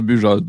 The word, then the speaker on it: Bujold: aussi un à mike bujold du joug jo bio j ol d c'est toujours comme ça quand mike budget peut-être que certaines prononce bujold en ce temps bay -